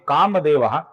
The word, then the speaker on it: कामदेवः: अब यहां पर ध्यान से देखिए, सर्वप्रथम नाम है कामदेवः, जिसके विसर्ग का आगे क आने के कारण अपूर्ण ख ऐसा उच्चारण हम करते हैं।